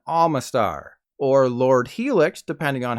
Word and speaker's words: Omastar: from babies to fossils despite starting with an O neither of these Pokemon have an o sound in their name this means that instead of omanite and omastar you should be referring to them as ammonite and Alma star or Lord Helix depending